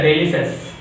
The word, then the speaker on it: delicious: It's a delicious. We are pronouncing wrong. Delicious. It's a wrong. The exact pronunciation of this word is delicious.